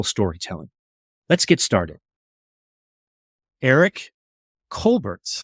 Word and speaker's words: Colbert: in San Diego and even though we always pronounced it Colbert when she got into real estate she always liked to pronounce it colar and she felt like it was a little